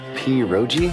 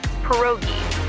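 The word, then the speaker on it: pierogi: Periro. Did I pronounce that right? It's pronounced perogi. A tasty dish like dumplings.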